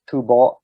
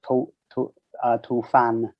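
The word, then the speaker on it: 吐蕃: Some people pronounce it Tubo and some people pronounce it Tufan.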